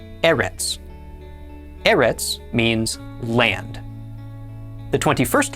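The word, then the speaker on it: ארץ: The olive with the sele is pronounced e. The r is r. The sele is e. And the final tadi is t. Altogether this is pronounced e rtets. Erits.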